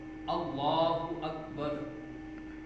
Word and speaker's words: اللہ اکبر: اللہ اکبر، اللہ اکبر۔ اکبر کے اندر بھی 2 غلطیاں کرتے ہیں، وہ کون سی؟ ایک اکبر، حمزہ کو لمبا کر دیتے، اکبر، اللہ اکبر، اور دوسری غلطی اکبر میں جو کرتے ہیں وہ اللہ اکبر، با کو لمبا کر دیتے ہیں، یہ بھی نہیں ہونی چاہیے۔ اصل تلفظ کیا ہے؟